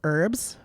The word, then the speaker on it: Herb: herbs herbs but then when you get to a person named herb we make sure that we pronounce the h yeah because it's weird